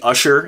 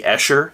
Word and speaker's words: Escher: Said MC Usher instead of MC Escher.